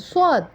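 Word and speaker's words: صاد: difference between seen and swad? The difference is a pronunciation and the voice modification. Like a seen has a thin voice and swad has a hard voice.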